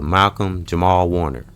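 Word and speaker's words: Malcolm-Jamal Warner: is rest in peace and in power to Malcolm Jamal Warner, right?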